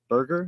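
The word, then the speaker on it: Berger: on so Pablo burger burger yeah I looked up it just tells me how to pronounce Burger I think it's Burger that's how they said it oh and we have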